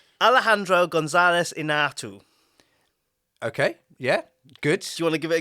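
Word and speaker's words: Alejandro González Iñárritu: Alejandro González Inarritu.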